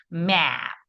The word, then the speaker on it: map: 그러니까 맵이 아니야. map 이렇게 해야 되죠.